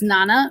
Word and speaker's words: nona: eight is octa and nine is nana or nona you can pronounce it either way and ten is deca